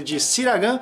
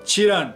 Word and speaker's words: Çırağan: que durante o vídeo a gente acaba pronunciando o nome do hotel errado chamando ele disse lá ganhe porque é assim que se escreve mas a pronúncia em turco é tirando a gente está no